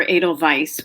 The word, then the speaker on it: Edelweiss: it data wise or Edelweiss would be the German Way right would you start